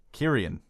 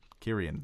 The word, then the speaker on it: Kyrian: first question comes from he told me how to pronounce his name in the email Kyrian Kyrian like Carrie and Hines says what's up guys it's a long one Carrie Anne like tyrion tyrion like Carrie and Heinz from the